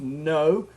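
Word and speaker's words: Ngô: His first name is spelled Ngo, but it's pronounced No.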